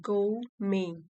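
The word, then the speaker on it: gourmet: अब देखिए इसकी प्रोनाउंसिएशन है गो में, गो में।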